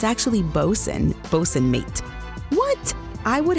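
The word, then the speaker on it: boatswain: Well, that's like 5,000% the wrong pronunciation. It's actually Bosen.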